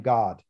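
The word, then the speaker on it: Gad: not even a word the word for god here is g g-a-d and this is one of the sons of israel you pronounce his name god am i this guy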